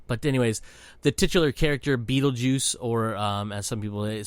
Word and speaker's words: Beetlejuice: But anyways, the titular character, Beetlejuice, or as some people say, Beetlegeist, even though it's pronounced juice, that's just a funny way of doing it.